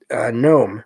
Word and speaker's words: gnome: And this one is gnome, which of course the G is silent, Gnome. It says here, a type of nature spirit said to live in caves and or mountain habitats.